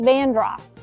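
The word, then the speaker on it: Vanderhorst: this street is pronounced Yuji this street is pronounced vandr this street is pronounced Hazel I like to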